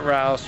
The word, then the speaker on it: Rouse: You know, if you would just get rid of John Good and Robert Rouse, rhymes with grouse or goose or whatever it is.